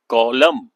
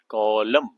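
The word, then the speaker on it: column: कॉलम। सी ओ एल यू एम एन कॉलम। इसमें एन जो है वह साइलेंट है लेकिन स्पेलिंग तो याद रखने हैं कॉलम और जो ऐसे है दिस इज रो।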